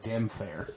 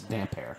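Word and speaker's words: Damphair: it's Erin damper or damn fair damn fair I've home damp air cuz that's how it's supposed to be pronounced it's damp air the next chapter is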